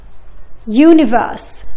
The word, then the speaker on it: universe: ولكن اسمعوا هالكلمتين: union universe. حرف اليو ما نطقناه ك أ ولكن ك يو.